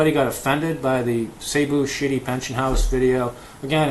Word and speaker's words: Cebu: When I was in Cebu, sorry, that's how you say it, Cebu.